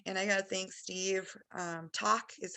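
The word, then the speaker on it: takk: Talk is how you say it in Steve's language,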